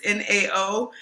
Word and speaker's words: Nao: Her name's, I think I'm pronouncing her name right, Nao. It's Nao.